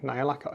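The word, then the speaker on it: Nihilakh: see on nids I used some Games Workshop nailac oxide nailac is how you pronounce it their verdigre paint and I just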